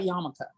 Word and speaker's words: yarmulke: So go talk to me about yarmulke, like fun, which has an R in it when you write it, just so you know.